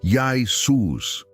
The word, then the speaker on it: Iesous: O nome era pronunciado Yai-Sus, ou algo próximo disso.